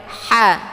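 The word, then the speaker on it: ح: Jadi ditekan sambil dialirkan, tapi tekannya jangan terlalu kuat. Ha. Ha. Jadi tekan sambil dialirkan. Jadi ha ini dia hampir sama pengucapannya dengan suara bebek ya. Suara bebek saat dia ada bareng-bareng teman gitu ya, ada jamaah, terus dia jadi gitu ya. Begitulah kemiripannya huruf ha ini.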